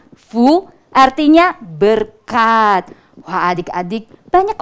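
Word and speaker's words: 福: Bacanya Fu, artinya berkat.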